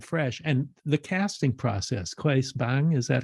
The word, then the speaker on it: Claes Bang: But to be able to bring something new and fresh, and the casting process, Claes Bang, is that how you pronounce his name?